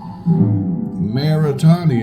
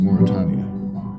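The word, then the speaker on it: Mauritania: Maritania is right there or Moritania. I think it's pronounced Moritania.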